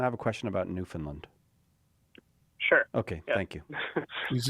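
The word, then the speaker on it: Newfoundland: It's spelled New Found Land, but it's pronounced New Finland, even though it's not located in Scandinavia.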